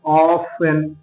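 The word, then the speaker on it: often: word আমরা নিতে পারি অফেন অফ এই অফেনের কিন্তু টি এর উচ্চারণ হচ্ছে না তারপরে আমরা একটা নিতে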